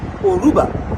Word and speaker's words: Yoruba: lot of euras but they don't call themselves yubas they call themselves oruba so the why is silent and that in Cuba